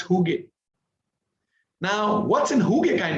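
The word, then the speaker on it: hygge: of such best practices is is the the who gay way of creating a workplace it's it's from scandinavia right it's from denmark it's called h y g g e and it's pronounced hugh now what's in huge kind of workplace a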